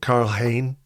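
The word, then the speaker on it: Karl Hein: Um you you assume that people like Alexander Zenchenko um Albert Sambi Lunga Carl Hane Carl Carl Hayne as they pronounce it in Reese Nelson.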